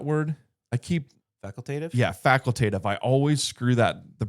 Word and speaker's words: facultative: Yeah, facultative. I always screw the pronunciation of that up.